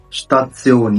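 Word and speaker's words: Station: أوضة شتاتسيون يعني محطة. الاس بي بتنطق شبي zum Beispiel sprechen يعني تحدث.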